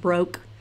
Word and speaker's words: Broeke: It's pronounced Broke, because I've heard Broeke as like the actual Broeke.